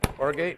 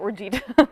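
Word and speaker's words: orgeat: the uh the or how do you pronounce that orgate orgate I was going to call it oret and you need uh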